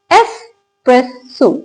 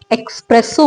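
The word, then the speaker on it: espresso: एस्प्रेसो. इसको पढ़ा जाता है एस्प्रेसो, राइट? अब देखिए, जब आप इनको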